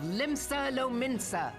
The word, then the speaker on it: Limsa Lominsa: That day, the world bore witness to the united strength of Limsa Lominsa. I was right. That's how you pronounce it.